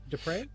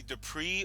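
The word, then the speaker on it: Despres: Dupre? Hey, thank you. It's actually Dupree or Dupre, and people really butchered this wonderful last name, and my French ancestors are really mad.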